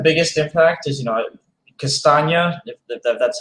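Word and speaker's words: Castagne: i think the biggest impact is you know castagna that's how it's actually pronounced um is 5.5 million um so i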